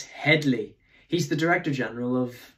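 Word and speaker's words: Hedley: getting his name wrong hammersley it's Headley he's the director general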